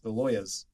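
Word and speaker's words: Lyas: the Lolas l loas the loers kind of sounds like slang how do you spell it uh l y a s but it sounds like you're in New York trying to get an attorney God I gotta get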